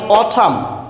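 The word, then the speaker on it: autumn: যখন সাইলেন্ট থাকে যেমন অঠাম অঠাম মিনস হেমন্ত এখানে এম এর পরে এন আছে কিন্তু এন এর উচ্চারণ হয়নি সাইলেন্ট ড্যাম এখানে এম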